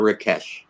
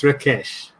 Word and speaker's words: Rakesh: name pronounced rakes or Rakesh it's uh the actual pronunciation is rakes raes yeah it is that is the Indian pronunciation how about the angiz version that's Rakesh raak because i' I've